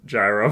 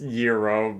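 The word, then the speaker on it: gyros: just um I spell and pronounce it Yuros, but I said gyro for chat's benefit. Yeah, exactly. Yo, 100%. Yeah, it's it's pronounced Yuro, but yeah, I I know that you said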